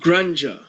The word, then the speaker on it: grandeur: Right, grandeur, like ganja.